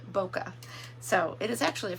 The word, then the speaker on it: bokeh: I went with um it has a eh at the end not an ah but it is pronounced bokeh so it is actually